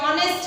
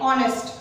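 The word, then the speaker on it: honest: सो यहाँ पे मैंने ऑलरेडी समझाया तुमको कि ऑनेस्ट है तो एच है जो है साइलेंट है, ओ से हम प्रोनाउंसिएशन कर रहे हैं, so this is a vowel, so एंड ऑनेस्ट, clear.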